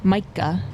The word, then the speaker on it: Mica: Mica. Mica.